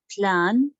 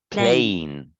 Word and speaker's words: plain: bites number one mm-hmm plan not plan it's plain plane plane plane a number